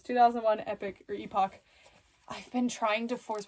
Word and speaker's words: Epoch: to force myself not to say Epoch and instead say epic but then I met with the actual Japanese Epoch people at toy fair and it's Epoch so please don't tell